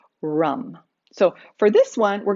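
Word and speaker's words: ram: the sound is rum r-a-m but pronounced with that u rum so for this one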